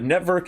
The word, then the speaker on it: NETVRK: network and so uh network is or netvrk they some people will say but i think it's network and that's how i like to pronounce it it's an ethereum based